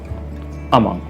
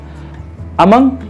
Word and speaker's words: among: जब हम दो से ज्यादा की बात करते हैं तो usually it's like अमंग। अमंग या अमोंग दोनों प्रोनाउंसिएशन है।